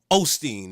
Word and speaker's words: Osteen: sell somebody said if they pronounce because it's Joel Osteen it's not old steam he said if there